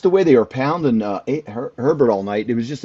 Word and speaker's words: Herbert: The Michigan, it's It's spelled just exactly the same. it's Herbert. It's just Herbert.